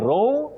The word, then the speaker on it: row: When you talk about a conflict or a dispute, you say row, row, not row. Domestic row, no. Domestic row, yes.